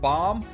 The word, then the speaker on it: Bam: comments section where BAM everyone has been saying BAM when it's really supposed to be pronounced Bom so going forward I